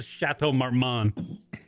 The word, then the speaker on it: Chateau Marmont: I only want to go there so I can fucking text Kieran that I'm at the Chateau Marmont.